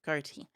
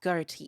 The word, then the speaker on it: Ghoti: During the next standby phase, special summon it, then synchro off for a big Fish of the Beyond, not Ghoti. It's not pronounced Ghoti, it's pronounced fish.